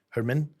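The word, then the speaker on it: Germán: I'll tell you, his first name is funny because it's spelled German, but it's Herman.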